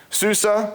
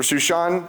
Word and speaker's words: Susa: Susa or Susan as it's usually pronounced was the winter capital and that's where they were at this time.